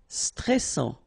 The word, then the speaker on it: stressant: Stressant. Final T not pronounced.